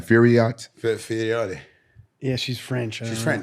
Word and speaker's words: Fiorot: Fiorot. Yeah, she's French. She's French. Oh, she's Ça va, c'est French. bien. So you got to say like Fiorot.